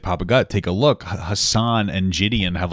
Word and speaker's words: Hasan: Hasan.